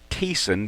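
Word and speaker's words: Thiessen's: camo it's called Thiessen it's actually called teason but it's spelled Thiessen thi es si n it's in real tree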